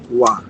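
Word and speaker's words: 와: dibacanya adalah Wa.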